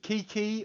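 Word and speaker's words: Qiqi: I need Kiki or Kicking. The Driving Thunder one or Kiki. I think they pronounce it Chichi, but nah, it's a 3-star piece of shit.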